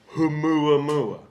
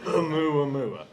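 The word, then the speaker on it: ʻOumuamua: So remember humua mua. Say that once again, Matt. Humu. I love that you pronounced the H. Yes. Humu Mua.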